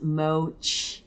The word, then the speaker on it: MOCHI: offset credit exchange exemption pronounce mochi Chi CH like change uh UCC Uniform Commercial